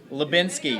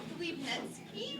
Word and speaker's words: Liebnetsky: my last name wrong. What? How do you pronounce your last name? Liebnetsky.